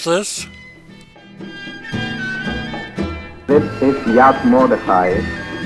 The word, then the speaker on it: Yad Mordechai: This one is just south of Ashkelon, and it's called, Carol, just how do you pronounce this? This is Yad Mordechai. Yad Mordechai.